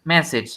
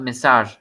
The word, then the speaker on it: message: idea yes and claudia message comes from french but it's called message not massage say no which would